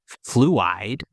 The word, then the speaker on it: Fluide: This track is called Fluide. The French pronunciation I believe is fluid. I am not French so do not quote me on that.